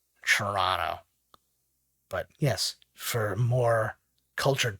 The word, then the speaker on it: Toronto: citizen of canada and we say toronto all the letters are missing basically the way i pronounce it it would be spelled like c-h-u-r-r-o-n-n-o toronto but yes for more